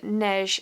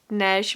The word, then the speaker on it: Neige: Before I get started, I'm wearing the Deer & Doe Neige sweater. I've spoken to my mum and I think I'm pronouncing that correctly. Neige means snow in French, so this is the Neige sweater.